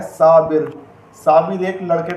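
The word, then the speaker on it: صابر: बे के ऊपर ज़ेर की हरकत यूज़ करेंगे, सा बिर।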